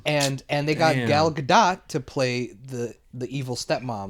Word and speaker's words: Gadot: Yeah, I mean, is it Gal Gadot or Gal Gadot? I've heard her pronounce it Gadot.